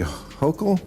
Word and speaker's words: Hochul: What do you New Yorkers think of how Mayor Eric Adams and Governor Kathy Hochul? Yes, you pronounced it right.